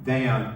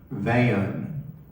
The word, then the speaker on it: Van: She pronounced my one-syllable first name as two syllables, not Van, but Van.